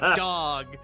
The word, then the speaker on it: Dog: His name is dog. It's spelled out.